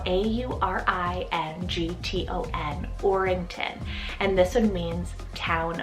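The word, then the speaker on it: Aurington: for a newcomer here i have the name orington spelled a-u-r-i-n-g-t-o-n orington and this one means town of gold i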